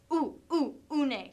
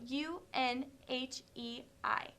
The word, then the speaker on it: Unhei: your name a girl asked unhei said unhei une some kids chanted no no unhe corrected it's spelled u n h e i it's pronounced unhei oh it's you hey the